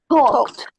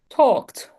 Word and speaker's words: talked: Talked. Talked. Exactly. We don't pronounce the e. Talked. Talked. Talked. This sounds like a t at the end.